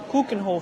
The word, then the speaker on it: Keukenhof: at coken Hof and as the locals tell us we have to pronounce it cooken Hof Cen Hof cooken Hof we've been practicing trying